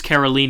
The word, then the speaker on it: Caroline: 22 caroline carolline caroline it's caroline and justine that's how you've pronounced both of their names yeah she's the nicest